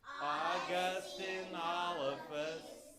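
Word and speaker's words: Augustynolophus: So you put it all together, it's Augustinophus Morrissey.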